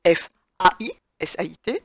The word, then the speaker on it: faisait: La difficulté est sur le verbe faisait, rappelez-vous, fut un temps, les gens prononçaient faisait, ce qui indique bien que l'orthographe de ce verbe est F-A-I, S-A-I-T, même si aujourd'hui on le prononce faisait, donc F-A-I, un seul